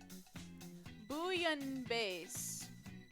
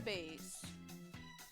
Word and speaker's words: bouillabaisse: Bouillabaisse. Bouillabaisse? What the? Why are words so hard to pronounce?